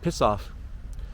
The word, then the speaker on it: PCAF: They call this a Presidential Covert Action Finding, PCAF, and I guess you can call it piss off, because that's kind of how that acronym sounds when you pronounce it as a word.